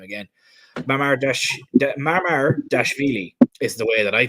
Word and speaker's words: Mamardashvili: Oh, God, let me try and pronounce his name again. Mamardashvili is the way that I think it's pronounced.